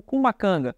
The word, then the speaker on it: Cumacanga: conhecido como kum kanga entendemos que kum kanga é a pronúncia dessa criatura no Pará enquanto no Maranhão se pronuncia curacanga mas todos esses nomes especialistas além do próprio Câmara Cascudo chegam à conclusão de que se trata da mesma criatura apenas com a pronúncia diferente nos dois estados mas nos games ou